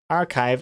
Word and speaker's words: archive: To learn that archive isn't pronounced like achieve.